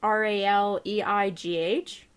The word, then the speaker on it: Raleigh: rally i don't know r-a-l-e-i-g-h really i don't know like well raleigh if you're gonna say it like the capital of okay so north carol dammit north carolina raleigh we'll say raleigh then i just yeah raw